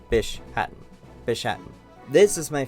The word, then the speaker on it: Bishaten: or uh bis Hatton I'm pretty sure the correct pronunciation is Bish Hatton fish Hatton this is